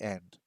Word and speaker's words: へ: It looks like he, but it is e to show where you are going.